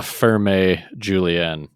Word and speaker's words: Ferme Julien: I think it's French, so I'm going to pronounce the vowels. La Ferme Julien.